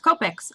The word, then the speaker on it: Copic: go over a couple things when coloring with copics I get a lot of questions about it and yes the correct pronunciation is Copic goic so I mostly use